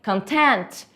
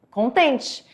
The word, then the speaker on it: content: Você tem content, essa forma de falar como conteúdo, e você tem content com o stress na segunda sílaba com a palavra content. Então você tem duas formas de falar, content e content, dois significados diferentes.